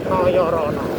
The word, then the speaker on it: Noyorono: Nah, ini iniok dan rokok besar P Noorono bacanya Noyorono teman-teman.